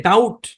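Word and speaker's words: doubt: কি আমাকে ডাউট করতেছেন এখানে এই যে বি আছে না এই বি হচ্ছে সাইলেন্ট এই বি সাইলেন্ট বুঝতে পেরেছেন এমন না যে সব জায়গায় হবে কিন্তু ডাউট শব্দের মধ্যে বিটা সাইলেন্ট মনে রাখতে হবে এই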